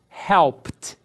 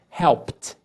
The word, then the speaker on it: helped: Então, quando os verbos terminarem com esses sons aqui que eu estou assinalando para vocês, vocês vão acrescentar o ED e pronunciar com o som de T.